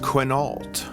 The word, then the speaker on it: Quinault: It's over on the west coast of Washington State, and it's pronounced Quinault.